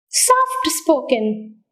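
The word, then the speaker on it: soft-spoken: Compound adjectives take stress on the second part of the word. Second part of the word. Can you give an example for compound adjectives? Soft spoken.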